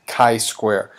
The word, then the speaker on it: chi-square: to show you is this chi-square test it's pronounced chi-square and we decide to do a chi-square test